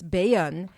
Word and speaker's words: Bayonne: Bayonne is the French pronunciation. In English, it's Bayonne.